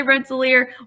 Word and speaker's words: Rensselaer: How do you pronounce Rensselaer? That's a tough one. So Rensselaer, I think most people say Rensselaer.